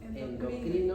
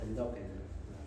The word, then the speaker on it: endocrino: Hay cierta disyuntiva con respecto a la pronunciación según la RAE, ¿no? Si es endocrino o endócrino, o si es colonoscopia o colonoscopía, ¿ya? O si es endoscopia o endoscopia, como dicen